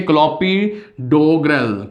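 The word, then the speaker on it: Clopidogrel: Yes please note the name of the drugs, that is drugs name is क्लोपिड्रिगल, ठीक है। First है आपका क्लोपी, इसको प्रोनाउंस करना सीखिए, क्लोपिडोग्रेल, ठीक है, क्लोपिडोग्रेल यहाँ पे पहला ड्रग है।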